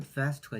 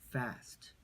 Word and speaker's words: fast: P와 F 발음을 구별하는 예시 중에는 과거를 뜻하는 past와 빠르다를 뜻하는 fast가 있습니다. past, past, fast, fast.